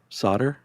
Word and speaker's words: solder: Solder? Solder. You got to say that L. I think the L silent, unless it's regional.